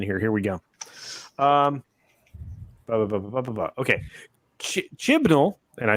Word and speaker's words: Chibnall: Okay, Chibnall, and I said it right again.